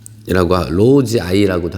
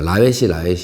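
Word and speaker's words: lowii: 7번 덴드로비움 로우지아이라고도 하고, 보통 이제 얘기할 때 제가 라웨시 하는데 정확한 발음은 로우지아이라고 하는 게 정확한 발음이라고 합니다.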